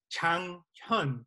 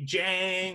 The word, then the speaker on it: Janghyun: But it's actually pronounced Janghyun, by the way. But, you know, people would say Jang or Janghyun, right?